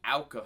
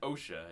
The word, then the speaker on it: O.W.C.A.: of Fin and Ferb uh known as the Ala files I always want to pronounce it OSHA it's it's ala uh this is all about